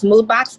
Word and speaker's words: Moodbaks: It's Moodbox, MOODBAKS, because it's spelled phonetically, .com.